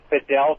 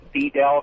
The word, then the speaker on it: Fidel: the walk over bill his name is Fidel Castro not beat al Castro I noticed that too